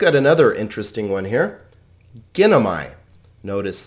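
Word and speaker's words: γίνομαι: So this is not gin o ma and then like this, gin o ma e. It's ginomai, a 3-syllable word because there are 3 vowels.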